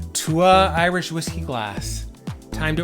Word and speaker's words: Tuath: Tuath, it looks like Tuath, Tuath, but it's pronounced Tuath.